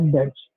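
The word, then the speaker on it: debts: फिर आता है बैड डेट्स। अब देखो यहाँ पे बैड डेट्स के अंदर बी आता है, तो ये बी साइलेंट होगा, इट is known as डेट, बैड डेट्स।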